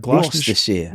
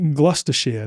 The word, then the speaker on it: Gloucestershire: Brotha Truth's Anglo-Saxon heritage can be traced back to, how do you pronounce that? Gloucestershire. Gloucestershire.